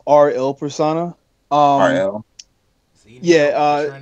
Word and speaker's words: R:IL: see results it's pronounced RL persona oh yeah you know like the the Italian word for the it's the names kind